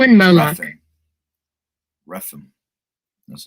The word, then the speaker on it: Rephan: Rephan.